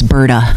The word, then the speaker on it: Britta: So it worked out good, because we have like a nice little Well, just remember to pronounce my name correctly, though. It's Britta.